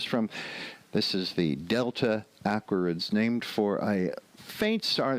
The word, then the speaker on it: Aquariids: sounds like Gemini but Aquarius going from Aquarius where the accent is on the second syllable to the awkwards accent on the first syllable that's a little bit of a jump anyway that's where it